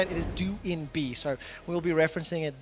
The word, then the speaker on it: DoinB: And just as a very quick update, we have received updated information as how to correctly pronounce DoinB. His nickname is how we used to say it. It is DoinB, so we'll be referencing it that way going forward.